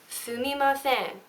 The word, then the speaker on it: sumimasen: Sumimasen. Sumimasen, right? Okay, it's not sumimasen or sumimasen or anything like that. It's sumimasen. Something like that, okay?